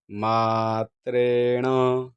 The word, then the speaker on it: मात्रेण: पाहिजे यस स्मरण मात्रेण आता मला एक काना असल्यामुळे म हे दीर्घ म्हणायचा आहे मात्रेण यस्य स्मरण मात्रेण अशा